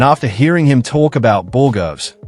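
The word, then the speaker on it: borogoves: Judge Middleton is out here delivering the ponytail of justice, and after hearing him talk about Borgovs, which is actually the proper pronunciation, I found a couple of fun details worth sharing.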